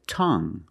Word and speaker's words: tongue: we have this word tongue the UE e at the end is silent so we pronounce it like young tongue you have only the nasal sound there's no G it's just a sound tongue this is my